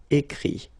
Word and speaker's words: écrit: IRE here, it, but then phonetically it's i as well because you don't pronounce the final t, okay. Écrire, écrit. IRE, it, same group.